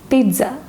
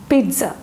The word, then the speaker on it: pizza: Even though there is no T, we have to pronounce this word as pizza. A small T sound should be there. It is called pizza.